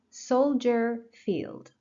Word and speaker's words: Soldier Field: Soldier Field. Soldier Field. Soldier, first syllable.